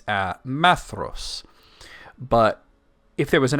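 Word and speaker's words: Maedhros: son m e d h oos it's a maos but if there was an accent on that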